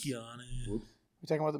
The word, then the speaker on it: Keanu: Kanye Reeves is where it's at. Kanye Reeves? Reeves. I don't know who that is. Wait, did I say the name wrong? Keanu Reeves? Keanu.